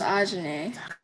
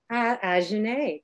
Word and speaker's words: Ajahnae: Hi, Ajane. Am I pronouncing your name correctly? Help me out. Did I do all right? It's Ajane. Ajane, great.